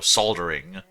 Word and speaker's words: soldering: was uh soldering because there's an L in there. So you just go soldering.